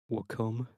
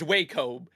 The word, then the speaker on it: Wacom: Wacom.